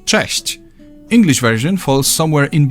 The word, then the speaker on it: Cześć: There's also a comparable softer sound. Ch. You can hear both in the word Cześć.